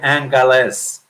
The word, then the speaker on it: Angeles: web page he said Angeles and less and good pronounced with a G so if the mayor